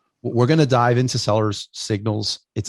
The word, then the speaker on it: Sellers Signals: We're going to dive into Sellers Signals. That extra S throws me when I pronounce it, Sellers Signals.